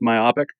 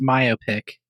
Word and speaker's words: myopic: I went with myopic. Cool. Just because I like that word a lot and I don't get to hear it very often. It's pronounced myopic, guys. Myopic.